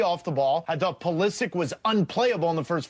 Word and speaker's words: Pulisic: Pulisic, not Pulisic. No. Hard C. Looks like it should be Pulisic.